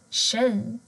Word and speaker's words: tjej: Men har du t och j tillsammans så blir det sh, sh-ljudet. Till exempel tjej eller 20.